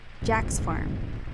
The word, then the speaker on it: Jacques: It was called Jacques Farm, or in the proper American fighting man pronunciation, Jack's Farm, though its official designation was Tank Battalion Training Center, Camp Elliott.